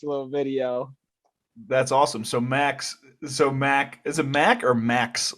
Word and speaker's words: Macks: It's Max. It's spelled Macks, but I have a lot of people call me Mac just because it's like, Big Mac, McDonald, like, Yeah.